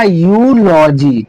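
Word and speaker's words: eulogy: इसको यू एन इसका उच्चारण हम यू करेंगे। और यहां पर एल ओ जी वाई। यहां पर इसका उच्चारण हम करेंगे लॉजी। तो हो जाएगा यू लॉजी।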